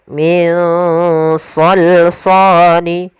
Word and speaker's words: صَلْصَال: Cara membacanya adalah kita samarkan nunnya ke huruf shad. Nah, shad termasuk huruf yang tebal dan huruf isti'la, maka dia samarkannya agak ditebalkan. Min salsani.